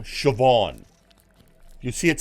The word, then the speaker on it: Siobhan: have to deal with everyone's like isn't it pronounced S no it's a it's a Gaelic word it's like the Gaelic name shobon if you see it spelled you'll notice shobon